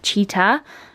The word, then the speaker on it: Cheetah: These are from Cheetah. Cheetah, it's actually pronounced cheetah, but I thought it was sitter for so many years.